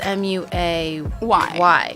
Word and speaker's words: Muay: But it's the way it's spelled, it's M-U-A-Y. Muay Thai. But I want to say, well, no, I guess, yeah, it's because like moi.